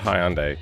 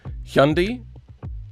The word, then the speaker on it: Hyundai: so weird and funny, but we call it Hyandai. Uh, the Americans pronounce it either Hyundai, Hyundai, or Hyundai.